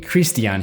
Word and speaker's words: Christian: Or should I say, Christian Hughes. Dani pronounces his name the same way that Pelle does, with a Swedish accent.